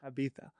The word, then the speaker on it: Ibiza: Is it Ibiza or Ibiza? How do I say that to be legit? What was the second one? Ibiza or Ibiza? Ibiza. Yeah, that's what I thought.